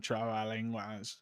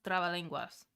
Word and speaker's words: trabalenguas: Trabalenguas. Okay, how do you pronounce it?